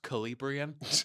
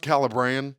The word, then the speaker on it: Calabrian: It's pronounced Calabrian. It's pronounced Calabrian. Calabrian. It's like the Caribbean Seas, the Caribbean.